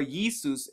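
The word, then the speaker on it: Iesus: and by the way the letters I and J were originally pronounced as the letter Y so the yuh sound and you can see right here the name of the Messiah what it says instead of saying Jesus it says it with an i or isus or Yesus as another way of pronouncing that and as you can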